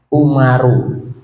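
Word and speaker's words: عمر: ya ini nanti kalau kalian bedakan antara Amr sama Umar itu beda Tulisannya sama bedanya adalah kalau di akhirnya ada waunya atau ada alifnya itu artinya adalah Amr tapi kalau akhirnya ada tidak ada apa-apanya itu bacanya adalah Umar ini berarti jalasa Umar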